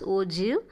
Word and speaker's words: ogive: ஓகேவா, the term ogive is pronounced as ogive and is derived from the word ogi.